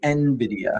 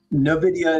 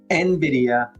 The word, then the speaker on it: Nvidia: Um, the correct way to pronounce it is actually Nvidia. Yeah, here it is. Novidia is incorrect. Nvidia.